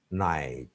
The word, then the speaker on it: night: Night, GH, the two graphemes or letters are silent.